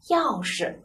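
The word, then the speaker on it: 钥匙: 我们一定记住，钥匙的是什么声呀？轻声，是不是？轻声啊，我们就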